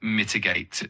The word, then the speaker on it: mitigate: Uh and for mitigate, it's mitigate uh with the emphasis on the first syllable.